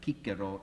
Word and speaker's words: Cicero: agar agar publicus I'm our pronunciations of Latin by the way is heavily compromised by English I mean I I could probably satisfy some Latin purists here if I talked about kikero instead of Cicero and Julius Kaiser instead